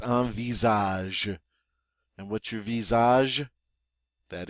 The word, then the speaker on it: visage: go aage all right that s is pronounced like a z because it's between two vowels so it's a Visage and what's your Visage